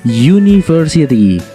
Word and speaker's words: university: Nah, itu kalau di bahasa Inggris bacanya university. Nah, kata ini kalau dilihat diawali dengan huruf vokal yaitu u, ya kan? Tapi jika dibaca terdengarnya menjadi y atau konsonan ya, yaitu university ya, seperti.